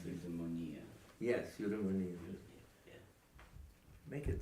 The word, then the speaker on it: Eudaimonia: The other one, Udadon, I can't pronounce it. Eudaimonia.